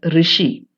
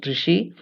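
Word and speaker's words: ṛṣi: This term is pronounced as rishi, though spelled as RSI, it is pronounced as rishi.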